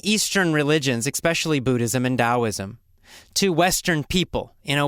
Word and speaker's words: Taoism: logic about it so it's spelled with the t but pronounced as a d i don't know why